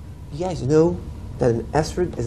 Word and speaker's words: Esrog: An esrog, Or how you guys pronounce things in yeshiva? Etrog or Esrog?